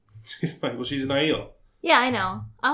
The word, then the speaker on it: Aiel: I read the pronunciation. Aiel.